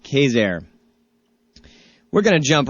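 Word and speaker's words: Quezergue: though it is pronounced Kazair, as you all know from visiting New Orleans and knowing folks from New Orleans, they don't necessarily pronounce things the way they're spelled down there.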